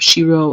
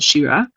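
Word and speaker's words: שירה: me and Shiro night is written with a hey instead of it above which will see inside even though it's pronounced as if it had above Shiro as opposed to Shira it means his song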